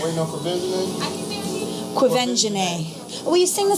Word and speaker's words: Quvenzhané: Jamie Foxx welcomes the cast of Annie, including Oscar-nominated Quvenzhané Wallis, Bobby Cannavale, and Cameron Diaz, as they celebrate the release of their latest collaboration, Annie.